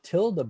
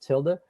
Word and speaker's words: tilde: then you press the tilde button. And remember, the tilde button is, and it's tilde is spelled like Tilda Swanson, I believe, the actor.